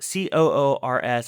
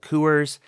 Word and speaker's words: Coors: Now, I'm talking about Coors, C-O-O-R-S. I've heard people pronounce it Coors.